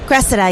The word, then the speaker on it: Cressida: Kat Cressida? Cressida, yeah.